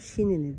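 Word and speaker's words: Chenini: Cehenini diye yazılıyor. Şinini diye telaffuz ediyorlar.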